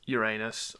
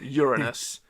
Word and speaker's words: Uranus: the monologue is um very many ways to pronounce Uranus or Uranus, but he he pronounced it a way I've never heard before. and he said it was almost like he said you are anus.